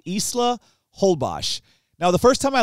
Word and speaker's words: Holbox: and everyone kept referencing a place called Isla holbash now the first time I looked it up it's actually spelled h-o-l-b-o-x which is whole box is what I thought but it's uh it's